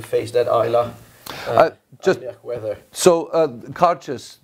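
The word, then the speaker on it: Cairdeas: be able to face that eyelash so uh cautious it's pronounced cartius and this is it means hospitality friendship in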